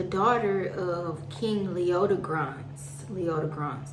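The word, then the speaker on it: Leodegrance: of king leotta grant's leota bronze that's how you say his name of scotland and arthur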